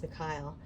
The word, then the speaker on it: Michael: cards, but Archangel Michael, which I pronounce Mikhail, or Mikhail, it'll come out different ways when I say it different times, forgive me in advance, this is his reading.